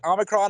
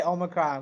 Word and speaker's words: Omicron: Omicron is serious. At my job, we don't say Omicron. We call it Omicron. Omicron? Apparently, that's the official pronunciation that a South African doctor gave it.